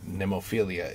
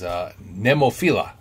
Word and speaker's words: Nemophila: It's not Nemophilia. It is Nemophila.